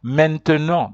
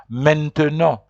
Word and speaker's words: maintenant: now in French is maintenant. There are people who pronounce it maintenant, but there are others who say maintenant. So maintenant is people who speak very fast.